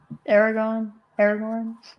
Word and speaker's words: Aragorn: Honestly, I think it can be pronounced either way. Aragorn. I mean, I've heard both.